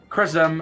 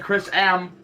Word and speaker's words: ChrisM: Chris M, excuse me. Commentator, you know, saying Chris M. Going hard on that M, but gotta give it the light ism.